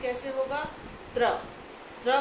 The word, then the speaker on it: त्र: त्र। त्र को उच्चारण करो, आप लोगों को पता चल जाएगा